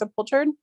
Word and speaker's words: sepultured: didn't he talk about sepultured or is that did I pronounce it right it's a pull turd that's the it means